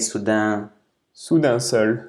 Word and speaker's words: Soudain Seul: Soudain Seul.